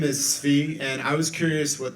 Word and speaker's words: Tsvi: Hey, my name is Svi, and I was curious what the panel... Spell that.